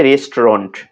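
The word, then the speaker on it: restaurant: রেস্টুরেন্ট বানানটা যখন আমরা করব তখন এইভাবে মনে রাখবো, RES race, TAU টাউ রান্ট, RANT রেস্টাউরেন্ট, কিন্তু উচ্চারণটা হচ্ছে রেস্টুরেন্ট।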